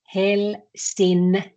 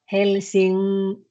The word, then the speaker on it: Helsinki: So we don't say Helsinki, we say Helsinki.